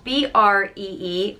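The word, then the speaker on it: Brí: a vowel and it's both are pronounced the same way just Bree and this one isn't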